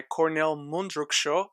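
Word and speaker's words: Kornél Mundruczó: on netflix january 7th and is directed by cornell mundruksho i checked that is how you pronounce it and it stars vanessa kirby shia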